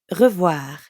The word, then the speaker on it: revoir: And voir is easy because it rhymes with soir, like in bonsoir.